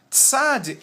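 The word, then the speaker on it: צדי: é a letra tsad tsad possui ela ela ela é transliterada pelo pela pela forma TS TS e ela possui a em nossa lin o mesmo som de z z na palavra pizza não é lembra das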